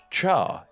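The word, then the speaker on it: 茶: character pronounced as two it is pronounced completely differently being pronounced as Char instead Yep this is where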